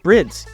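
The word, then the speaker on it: Bride: Get Brids, get Recaros, get Sparkos. Yes, it's pronounced Brids.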